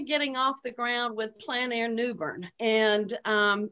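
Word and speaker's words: plein air: Well, and you pronounced it, is it pronounced Plan Air? Plan Air. Mm-hmm. Okay. It's actually a French word. I always want to say plain air, but it is outside, right? It's Plan Air.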